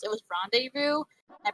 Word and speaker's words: rendezvous: I think it's a French word, but I think I thought it was pronounced that way, but apparently it's pronounced rendezvous.